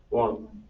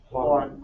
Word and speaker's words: Juan: ¿Cómo se pronuncia este nombre? Juan. ¿Es Juan o Juan? Juan.